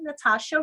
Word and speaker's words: Natacha: search ghost Allah or my name Natacha which has a silent h after the see fun side and as